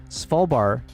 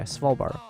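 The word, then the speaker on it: Svalbard: Svalbart is pronounced without the D. So, Swvalbar. I was hoping you would say it's pronounced without the V cuz that's where I'm struggling is that freaking V sound there. Swalbar.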